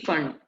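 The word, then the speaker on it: Pfund: ठीक है, पी फंड, फंड बोलते हैं इसको, पी साइलेंट रहता है।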